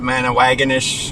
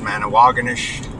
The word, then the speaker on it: Manawagonish: Yes, I used to call it Manawagonish, and I was corrected, and it's Manawagonish.